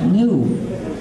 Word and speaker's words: GNU: porque según el diccionario la G es muda y la palabra se pronuncia new, es decir, nuevo.